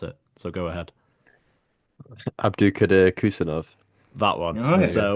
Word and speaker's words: Abdukodir Khusanov: I presume you know how to pronounce it, so go ahead. Abdukodir Khusanov.